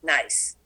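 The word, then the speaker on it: gneiss: igneous granite changes into g-n-e-i-s-s pronounced nice metamorphic rocks slate metaquartzite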